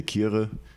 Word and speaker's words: Kyere: So in Ghana, you say because it's a Ghanaian name. Yeah, you say Chre. You actually say Chre. Chre. Okay, but it's spelled for everyone listening. Kyere. Chre. Okay. So for the sake of other people just getting confused when I say Chre, I say, in Germany I say Kyere, in England I say Kyere.